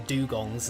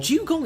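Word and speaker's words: Dewgong: Dugong is! But Okay. it's spelled D-E-W. Yeah, Dugong. like water. Like the morning dew.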